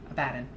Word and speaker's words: Abaddon: Kind of like Ezekiel Abaddon is the actual way you pronounce Abaddon.